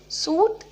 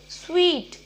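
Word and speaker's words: suite: Okay, so the second word is स्वीट. नो, सूट. नो, इट्स स्वीट.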